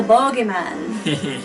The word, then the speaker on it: bogeyman: Well, they seem to derive from the character of the boogeyman in many tales. Or if you're from Scotland, the original pronunciation, the bogeyman.